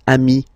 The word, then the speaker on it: amis: Okay, but then technically you pronounce it the same way. So singular form, ami. Plural form, you add this S, but it's ami as well.